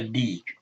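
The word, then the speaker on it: ديك: This ya is elongating this kesra to make a long e sound. Hada dikun. Hada dikun. So this is a rooster one time. This is a deek.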